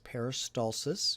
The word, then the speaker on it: peristalsis: of anatomy that's very important what peristalsis is peristalsis you should be able to say that word